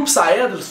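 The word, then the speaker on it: Psamathos: Mas é porque no inglês, esse P no início, ele é mudo. E o Psaedrus faz questão de que as pessoas falem esse P.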